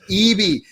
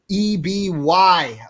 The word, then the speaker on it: Eby: Twitter at the Ben Eby. That is EBY, spelled and like that and pronounced like that. I nailed it, right, Ben? Yeah, you got it. Got it down flat. Not Eby. That is wrong.